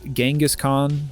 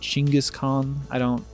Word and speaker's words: Genghis Khan: Another prime example of this is Genghis Khan, Genghis Khan, Chinggis Khan. There's so many different pronunciations. I'm gonna say Genghis.